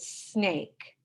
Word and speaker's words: snake: So the silent E is at the end. It doesn't make a sound, and it makes this sound like a long A.